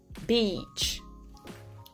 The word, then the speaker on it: beach: Alors que dans beach, le son I qu'on entend là est un son I long. Attention, je dis bien le son I parce que la lettre I n'est là qu'une seule fois, mais le son I est bien présent deux fois. Celui qui ressemble le plus à notre I français, c'est celui-là, c'est le I long, beach.